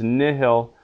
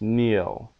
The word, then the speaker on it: nihil: so the word is nihil but sometimes it can be pronounced Neil just like you took out that h a vowel before another